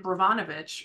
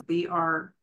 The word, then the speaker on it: Brnovich: And then Brnovich, or again, ruining the name of the pronunciation, it's Brnovich, versus the Democratic National Committee from 2021 stripped away more pieces.